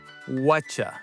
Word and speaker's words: whatcha: Whatcha. It sounds like a CH sound.